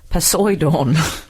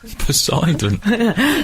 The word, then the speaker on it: Poseidon: my husband is Poseidon he pronounces it posidon Poseidon the cause of maity